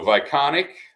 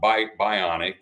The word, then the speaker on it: Vionic: ht4 soybeans forever so Vionic uh which spelled with a V so it's not B bionic it's Vionic uh is is the new